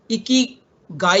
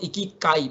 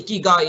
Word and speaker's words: ikigai: soften the the ending so it becomes icky guy instead of ekit kai because if you try to say ikikai it's very difficult to pronounce but if you say ikigai it's much more softer to pronounce this also happens in